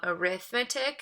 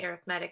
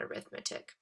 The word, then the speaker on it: arithmetic: two different ways to pronounce that word um arithmetic is probably the pronunciation pronunciation you've used before that just means